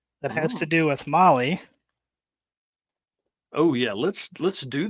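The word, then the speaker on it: Mahle: podcast listeners out there Molly is spelled m ahle e all right dude show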